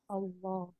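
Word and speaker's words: الله: tapi ketika saya tulis seperti ini maka ini bacanya Gimana Allah allahah itu yang namanya tajwid ya kenapa bisa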